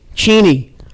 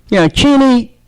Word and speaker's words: Cheney: Cheney. You listen to Dick Cheney talk about...